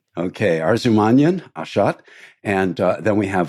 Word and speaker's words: Arzumanyan: Let me see if I can pronounce this properly, Ashot. It's Arzumanyan? Yes, correct. Okay, Arzumanyan, Ashot.